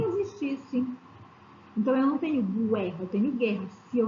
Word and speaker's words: guerra: Os grupos Q e GU também são dígrafos, mas eles só são dígrafos sempre que a letra U não for pronunciada. Exemplo, guerra. Quando eu falo guerra, lembra que no vídeo que eu coloquei para vocês, ele falava muito sobre isso. Não é guerra, é guerra. Então, por isso, esse GU,